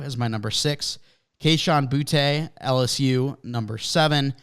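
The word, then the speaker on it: Boutte: my number six Keyshawn boote LSU number seven it's pronounced Booty by the way booty uh Jalen Hyatt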